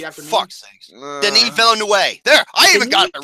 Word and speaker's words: Villeneuve: Denis Villeneuve. There, I even got it right. Jerome? No. That's not how you say it. It's Villeneuve.